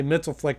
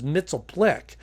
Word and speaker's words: Mxyzptlk: lot of different ways I'll probably say mitel flick just because that's the way I'm used to it although in the Super Friends I think it was mitel Plick and I think I'm